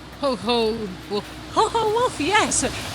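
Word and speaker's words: Chochołów: Looking at how it's written, I would have pronounced it Cho Love, but apparently that's completely wrong.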